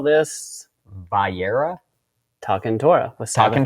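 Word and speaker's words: Va'era: Vayera. Vayera.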